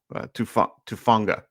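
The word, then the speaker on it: Hufanga: He will be going against guys like Fred Warner and I always get his name wrong. Tufanga. Tufanga.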